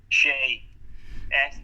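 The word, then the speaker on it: Hsieh: Pronounce the first lady's name again. Shea.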